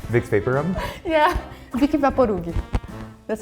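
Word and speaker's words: Vicks VapoRub: Vicky Vaporug. Vicks Vapor Rub?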